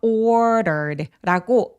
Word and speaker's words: ordered: ordered r가 모음 사이에 끼어 있는데 이런 경우에 d를 굴려서 발음할 수 있어요. 그래서 ordered라고 르라고 소리를 내는데 마치 스페인어에서 왜 마르게리다 할 때 굴려가는 그 소리가 맞아요.